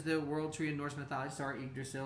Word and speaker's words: Yggdrasil: world tree endorsement star yggdrasil or igrasso depending on how you pronounce or say it this is what's